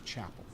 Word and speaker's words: Chapple: peas and two L's do not confuse me with Dave Chappelle his name has an e on the end hence the French pronunciation of Chappelle my name has no II the British pronunciation is Chapel which is where I come from my family comes from so don't don't